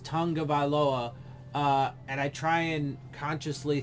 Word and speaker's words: Tagovailoa: So I know it's pronounced Tagovailoa, and I try and consciously think about that, but I often say Tagovailoa because it's spelled Tago, not Tunga, right?